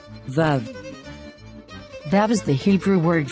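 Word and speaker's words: וָו: ah so of the andana tells us to pronounce tha and vaplasavi forms the sound vav vav vav that is the hebrew word for hook and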